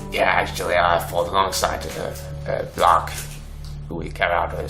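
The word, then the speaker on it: Blark: He says, yeah, actually, I fought alongside Black, who we carry out a secret mission in Metal Gorge Keep. He's creepy, man. Wait, you say Black? Are you sure his name's not pronounced Blake? No, B-L-A-R-K.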